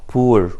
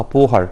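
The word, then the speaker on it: Bohr: طبعا هو بور، وما نلخبطش وننطقها بوهر، لا بور هو عالم الماني دايتش ساينتست او جيرمان ساينتست. طبعا كان اعتقد في الالماني ولانه مش دارسه قوي يعني ما بننطقش حرف الاتش في النص، فعشان كده بنقول بور مش بوهر.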